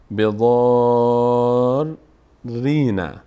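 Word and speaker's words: بضارّين: ببینید آخرش بضار، ری رو، ری ساکن اول رو در امتداد مد تلفظ میکنیم، بضار رینا.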